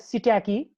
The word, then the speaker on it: psittaci: Mycoplasma pneumoniae, chlamydia species like Chlamydia pneumoniae, Chlamydia psittaci, this is pronounced as psittaci, and Chlamydia trachomatis.